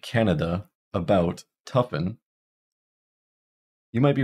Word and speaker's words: Canada: So most vowels and syllables that are not stressed are reduced to schwas. So we don't say Canada.